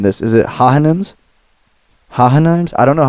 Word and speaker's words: Hohenheim: That's the best wrong pronunciation I've heard thus far. Nah, Hohenheim.